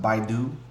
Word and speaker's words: Baidu: I think it's pronounced Baidu.